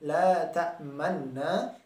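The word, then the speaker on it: لا تأمنا: Jadi pada lafal kata la ta'manna, kita membacanya dengan memanyunkan bibir. Seperti ini. La ta'manna. Sekali lagi, itu hanya isyarat bibir, tidak sampai merubah suara.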